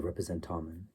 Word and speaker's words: representamen: That's interpretation of a sign vehicle as which is the proper way to say it, the representamen, the thing that holds the sign, the vicegerent,